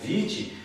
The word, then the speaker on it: vitae: A palavra vitae, que se pronuncia na verdade vitae, vem então também do latim, significa vida.